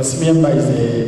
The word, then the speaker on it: Simuyemba: Simuyemba is a certified power coach, or basically a certified personal trainer.